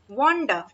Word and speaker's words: wander: next word है हमारा वंडर, वॉन्डर, WANDER, वॉन्डर, वॉन्डर means होता है घूमना, वॉन्डर, इसे वॉन्डर, वॉन्डर, वॉन्डर, इसको र जो है वो हल्का सा प्रोनाउंसिएशन हो, वॉन्डर, ठीक है, वॉन्डर